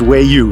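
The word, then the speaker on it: Waya: spelled w-a-y-a but they say it's about it's pronounced way you so that's what I'm going to go by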